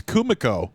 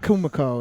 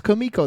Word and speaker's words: Kumiko: It's Kumiko. It's not Kumiko. It's Kumiko. They say it like 22 times.